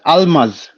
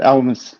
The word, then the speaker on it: Almas: in Ethiopian yeah yeah it's pronounced Almas yeah you guys just emphasize that yeah it's very loose that the way he said he said almost and I was like